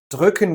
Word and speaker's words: drücken: Drucken with an U means to print something. Drücken with the umlaut Ü, that means to push or to press.